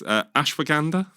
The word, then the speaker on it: Ashwagandha: Then this is another quite fun name and apologies everyone if I mispronounced this. Ashwagandha.